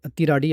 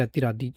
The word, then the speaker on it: Athiradi: तो दोस्तों अतिराडी फिल्म और इस वर्ड का मतलब है अतिराडी या फिर अतिरादी अतिराडी या फिर अतिरादी जो भी आपको प्रोनाउंस करना है जिसका मतलब है स्ट्राइक।